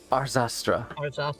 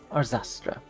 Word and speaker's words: Arzastra: to pronounce her name arzastra it's a-r-z-a-s-t-r our zastra a graceful name for